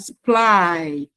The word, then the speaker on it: supply: Then you have supply. So you supply the stress is on the second syllable.